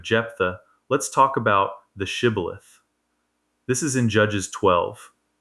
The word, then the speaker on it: shibboleth: To catch the escaping Ephraimites, they make everyone say the word shibboleth. The Ephraimites couldn't pronounce the sh sound. They'd say sibboleth.